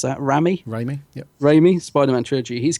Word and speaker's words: Raimi: Oh, you'll know how to pronounce that. Raimi, yep.